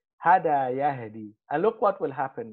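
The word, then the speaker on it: يهدي: Pronouncing a ya with a dhamma after it has a kasra is hard. So what the Arabs do, they just say yahdi.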